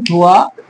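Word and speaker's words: هُوَ: এখানে সবাই ভুল করেন, কুল হু, হু কে আল্লাহর সাথে আপনারা যোগ করে দেন, কিন্তু না, এখানে হুয়া। কুল হুয়া, কুল হুয়াল্লাহু আহাদ। এখানে ওয়া উচ্চারণটা অবশ্যই করতে হবে।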